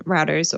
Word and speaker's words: router: can be installed on routers or bruters depending on pronunciation and location i'm here in the uk so i say a rooter you say a router whatever it's all the same tomato tomato potato potato